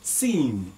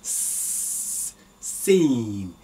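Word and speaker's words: سين: Okay, the next is, now very simple to pronounce, seen. It's a smiling, seen, seen, seen, seen.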